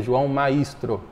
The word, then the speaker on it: João Maistro: Alguns falam certo Alguns falam errado mas a pronúncia correta é João maistro ô João gostaria que você falasse para nós